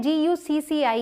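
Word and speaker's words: Gucci: निक ही करते हैं वैसे इसे गुस्सा ऐसे नहीं प्रोनाउंस करते इसे प्रोनाउंस करते हैं जीयूसीसीआई जीयूसीसीआई जीयूसीसीआई हज डी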